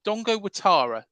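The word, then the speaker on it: Dango Ouattara: uh Dongo Atara um it's spelled Dango Dango Dongo watara is how it's pronounced uh but it's spelled Dango oh Dango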